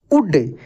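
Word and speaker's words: would: आई डिड सो यू उड देखिए डब्लू ओ यू एल डी है तो यहां पर एल भी साइलेंट है जिस से ऊपर आप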